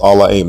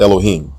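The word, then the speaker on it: אלהים: Genesis 1:1 is pronounced allahim not Elohim there is no long o vowel in this word and the letter ha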